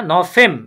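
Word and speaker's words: November: safe না জেব কারণ আমরা বলেছি বুরকিয়া জ উচ্চারণ হবে এটা ইয়া হুম না নফেম নফেম কারণ এটা ফাউ ইয়া নফেমে ইয়া ডিসেম্ব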